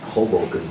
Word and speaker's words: Hoboken: being the first person in Texas to ever pronounce Hoboken correctly heartbroken mind of heartbroken okay without further